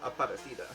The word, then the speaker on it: Aparecida: to consecrate Our Lady of, I believe it's pronounced Aparecida, who is the patron saint of Brazil.